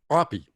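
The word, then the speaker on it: Opje: him the nickname and they spelled that o p j e which would be pronounced poppy in dutch and it caught on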